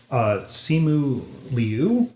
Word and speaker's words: Simu Liu: I hope I pronounce it right. It is Simu Liu.